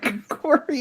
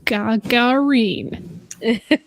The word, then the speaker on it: Gagarin: And I'm like, look, his name is Yuri Gagarin. Say it with me. Gagarin. Not Gregorin, not any other variation. Gagarin.